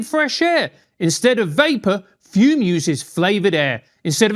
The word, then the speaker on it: FUM: We're talking about fume. It's spelled F U M and pronounced fume, which makes no sense.